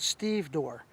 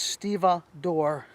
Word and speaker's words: stevedore: Some people pronounce it stevedore, but it's stevedore knot.